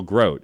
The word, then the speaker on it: Grote: Jill always says, my name is Jill Grote. It's like boat. That's how you say it.